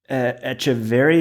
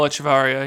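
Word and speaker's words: Echevarría: But, the long jump with Echeverry, is that how you say it? Juan Miguel Echevarria, yeah.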